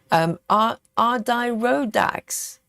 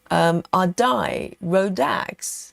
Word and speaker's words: Adirondack: It's pronounced Adirondack. Oh, Adirondack. I kept saying Adirondack. I butchered it.